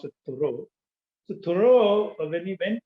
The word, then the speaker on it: Thoreau: a metaphysical kind of transcendental philosophy even though toro was thorough actually it's pronounced malayalam people write a story but uh i i think it's a french word so it has to be pronounced with thoreau so thoreau when he went to live in